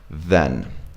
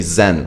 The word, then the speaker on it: then: had in your mouth then a lot of people say Zen right and Zen is like what you find within yourself when you're harmony you meditate you find your Zen right then next comes